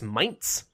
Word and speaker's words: Mainz: thought was Mainz, but I guess there's supposed to be like a T pronounced in it, so it's Mainz. Which sounds weird to me, because why is there not like a T? But maybe a Z is pronounced that way in German.